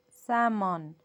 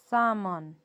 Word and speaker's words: salmon: Chalk, york, fork, walk, almond, salmon. Almond, salmon. These are 6 more words with silent letter L.